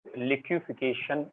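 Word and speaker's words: liquefaction: मैं इसे लिक्विफिकेशन बोलूंगा, लेकिन अगर आप स्पेलिंग बुक्स में देखेंगे तो FA है, ठीक है। आदत पड़ी हुई है वो लिक्विफाइड पेट्रोलियम गैस बोलने की ना, वहीं से आदत पड़ी है लिक्विफिकेशन बोलने की, बट इट इज लिक्विफैक्शन of gases.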